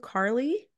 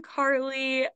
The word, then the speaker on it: Carleigh: you Carly beautiful because your name is spelled c a r l e i g h yeah it's uh it was really hard to understand when I was learning the alphabet that I have a bunch of silent letters in my name yeah yeahum dude I'm